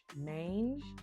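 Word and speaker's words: Maange: Okay, so it's called Manage. It's spelled M-A-A-N-G-E. Mange.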